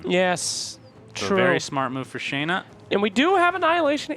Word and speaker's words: Shana: kind of a thing the American language pronounced it's pronounced Shana here's a fun fact